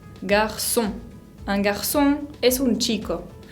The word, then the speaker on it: garçon: Esa C con cedilla es muy fácil de pronunciar, aunque sea nueva, porque se pronuncia exactamente como una S, como la S del castellano, el sonido C. Por ejemplo, garçon, garçon.